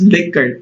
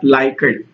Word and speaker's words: Likert: type format i'm not mispronouncing this it's actually pronounced as liquor not likert so liquor type format is actually the most